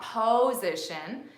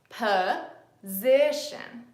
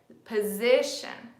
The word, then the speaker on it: position: notice here we have both of these O's are being pronounced as the schwa and both of these